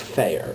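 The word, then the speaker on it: Feher: through my last name my last name is spelled f-e-h-e-r but it's pronounced fair it's a european name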